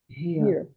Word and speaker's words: here: Muitos alunos têm dificuldade em falar here. Ó, ia, here.